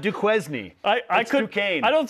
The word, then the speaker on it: Duquesne: They'll take on the 11 seed Duquesne in Omaha on Thursday.